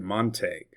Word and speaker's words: Montague: We showed very clearly that the citizens of the county called it Monte.